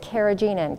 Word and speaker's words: carrageenan: Carrageenan, also some people pronounce it carrageenan.